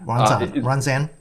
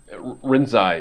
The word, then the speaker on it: Rinzai: The last one being Soto, and the first one, I believe, you know how to pronounce it. What's the first one? Ranzan? Rinzai.